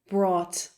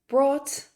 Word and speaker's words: brought: bring don't forget that words in English with g h in the middle that g h is usually silent for example although or